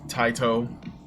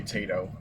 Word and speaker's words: Taito: So yeah, Super Jinrai remembers Taito. Or I used to say Tato. I'm not really sure. I think it's probably pronounced Taito though.